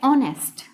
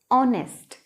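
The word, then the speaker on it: honest: नेक्स्ट word अपना है ऑनेस्ट। H letter को ना देख के हम इसकी प्रोनाउंसिएशन को देखेंगे कि कैसे हम इसकी जो प्रोनाउंसिएशन है वर्ड की वो ओ से शुरू कर रहे हैं, ऑनेस्ट।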